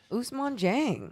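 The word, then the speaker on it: Ousmane Dieng: will be sending multiple first-round picks for us usman jang wow okay the thunder obviously have a [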